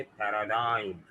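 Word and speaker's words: paradigm: कैसे मिलेगी, है ना, तो जी साइलेंट जो है वो आई की साउंड को चेंज कर रहा है, वो बना रहा है इसे पैराडाइम।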